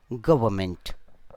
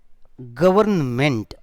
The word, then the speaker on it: government: the individual against the government most of the students they use this word government that is wrong its pronunciation is government so in simple words